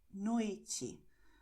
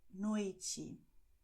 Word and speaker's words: noite: And another general principle for Brazilian Portuguese is that the letter E at the end of the word is pronounced as I. So you're going to say tarde, noite.